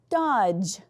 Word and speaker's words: dodge: So DGE says j, like in the word dodge.